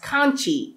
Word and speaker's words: Kanchi: Also, the author Sutomu Kambe mentions that BodhiDharma came from a city called Kanji, which is actually pronounced as Kanchi in India.